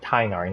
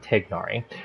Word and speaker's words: Tighnari: of course we have tagnari or tainari sorry it's um i i learned that from his uh teaser that's how they pronounce his name tainari not tignori anyway tainari i'm gonna